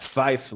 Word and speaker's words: Zweifel: O L normalmente se faz com a língua no céu da boca.